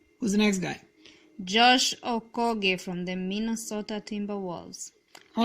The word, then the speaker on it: Okogie: People call him Okogie, but it's Nigerian last name, and well, It's Okogie. you I being am 100% sure. African, you say it's Okogie. That's the right Okogie. way. That's the right way to okay.